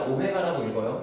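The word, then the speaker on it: omega: 자 x 세제곱은 1을 만족하는 다음의 허근을가 아니라 오메가라고 읽어요 자 얘가 오메가라고 됐을 때 당연하게 성립할 건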